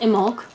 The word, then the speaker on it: Imbolc: a very pretty statue okay in bulk format pronounced immolque um also known as omek comes from an irish word that was originally thought to mean in the belly although many people translate it to use milk imbolc is one of the cornerstones of the celtic